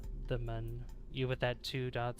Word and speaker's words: Mun: like a z or sorry for if I mispronounce it moon or M or M it's it's mun it's m good that's good that gets people